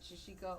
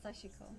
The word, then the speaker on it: Sashiko: And you can pronounce it Shishiko or Sheshiko, yeah, but Sashiko yeah. is So, how it was pronounced to me.